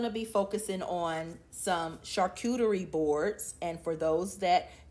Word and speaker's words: charcuterie: So today we're also going to be focusing on some charcuterie boards, and for those that need help pronouncing that, Charcuterie. Charcuterie.